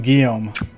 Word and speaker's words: Guillaume: Was it Gilawame? So like we were just saying Guillaume because he did like the pronunciation thing. So first I was using Gui. So Guillaume, yeah.